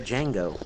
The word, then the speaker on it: Django: The Django. What? The But D that's is a Django, the D is Oh, the D is silent, but- silent.